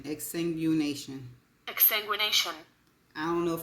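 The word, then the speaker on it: exsanguination: i o n and this is how it's pronounced exanguination exanguination exanguination exanguination I don't know if I'm going be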